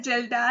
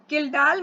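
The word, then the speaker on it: Kjeldahl: बेटा वह होता है जलडा मेथड से इसमें इसको किलडाल मेथड भी बोलते हैं। जैसे भी आपने प्रोनाउंस करना हो किडाल मेथड से हम करते हैं। बहुत सारी जगह आपको जिलडाल मेथड भी मिलेगा।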